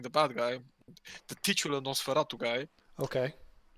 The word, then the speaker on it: NOS4A2: Yeah, Nosferatu. Okay. It it's spelled NOS4A2.